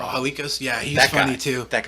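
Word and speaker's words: Halkias: Stavros Hulk. Am I I'm saying it wrong. Hikos.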